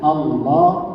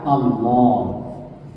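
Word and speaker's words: الله: Jadi bacanya Allah bukan Allah, ya. Jangan dibaca Allah. Tapi dibaca Allah. Kalau dieja itu alif lam mati. Alif tasdid dalam al. Lamnya ditebalkan, jadi Allah.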